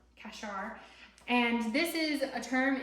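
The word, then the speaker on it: qashar: And that word in Hebrew is kashar. If you wanted to spell it in the English, it would be something like Q-A-S-H-A-R, kashar.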